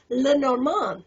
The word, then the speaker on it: Lenormand: what you looked like or even how to pronounce Lenormand. Did I get it right this time? Bravo. Good job. So you are the author of The Essential Lenormand.